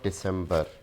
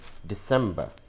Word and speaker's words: December: So this word is not December. Again, removing R sound and adding a schwa sound. So this is December, December, December.